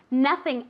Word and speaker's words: nothing: Nothing else has to go on the table. Nothing else has to go on the table, okay? Remember the pronunciation of nothing, okay? As if it were with an A.